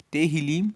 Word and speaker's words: Tehillim: Tehillim se escreve T-E-H-I-L-I-M e Tehillim quer dizer louvores.